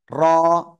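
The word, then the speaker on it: ر: agar পিঠ কোথায় বললাম জিহ্বার আগারপিঠ তার বরাবর উপরে তালুর সাথে লাগবে লাগিয়ে লাগিয়ে এক আলিফ টেনে উচ্চারণ করব র র র সবাই একসাথে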